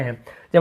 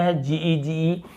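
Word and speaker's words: hedge: एज, एज यानी होता है किनारा, यहाँ पर भी देखिए डी को नहीं पढ़ रहे हैं। जब हम बुक पढ़ते थे, नियम नहीं पता, हम सोचते थे अरे डी को क्यों नहीं पढ़ रहे, यही होता है साइलेंट।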